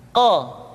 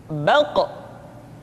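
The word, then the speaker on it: ق: Huruf qaf diucapkan dengan cara menyentuhkan pangkal lidah kita dengan langit-langit bagian belakang. Qa, qi, qu, balq. Diucapkan dengan suara yang tebal dan dalam posisi sukun, maka terdengar pantulan suara.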